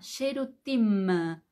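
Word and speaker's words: שירותים: eso es lo primero no es con m al final no n de naranja m de mamá sherutima Ok está claro Entonces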